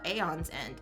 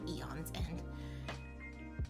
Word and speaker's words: Aeon's End: eon's end that's uh aeon's end aeon's end that's how you say it not eons and a on end uh that's really cool